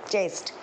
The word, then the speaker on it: chest: मैं spelling चेक क्यों बोल रही हूँ कि आपको समझ में आया कि मैं क्या बोल रही हूँ, प्रोनाउंस बराबर करिए उस वर्ड को, चेस्ट, CHEST, चेस्ट।